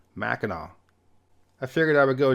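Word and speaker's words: Mackinac: one on an island two different spellings but they're pronounced the same way they're both Mackinaw I figured I would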